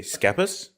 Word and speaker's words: Schepis: So what do you say, Schepis?